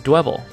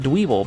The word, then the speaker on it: Dwebble: This is Dwebble, which sounds like pebble, but I call it Dweeble because it sounds like Dweeb.